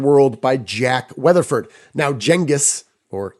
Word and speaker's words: Genghis: Now, Genghis, or Genghis, right? This is one of those terms when you pronounce it correctly, other people think you're dumb because they think you're pronouncing it incorrectly.